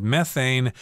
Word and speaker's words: methane: I should mention that the word methane can also be pronounced methane. I think I've heard people from the UK say methane, but Americans say methane. It depends on where you are.